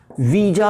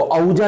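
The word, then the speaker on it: Ouija: good word, this is वीजा board होता है, this is वीजा, इसको औजा नहीं पढ़ना है, दिस इज वीजा बोर्ड होता है।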